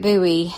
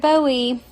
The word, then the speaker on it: Bowie: a little mad by saying David Buoy instead of David Bowie. A buoy is the thing in the ocean right in the water.